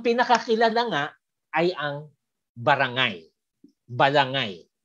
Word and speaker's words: balangay: Of course, yung iba binibigkas balanghay, pero kasi itong spelling ng ilang manunulat na Espanyol, pero dahil sa wikang Kastila, silent ang H, balangay din ang bigkas doon, no?